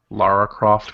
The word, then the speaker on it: Lara Croft: you aircraft goes good it's uh pronounced laura lara croft princess pronounced lara croft yeah oh oh oh oh